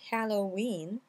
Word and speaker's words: Halloween: Et donc ici vous allez bien prononcer ha, et vous prononcez le H, il n'est pas muet, ha. Ensuite vous avez in. Alors in en fait, Halloween, in, en fait on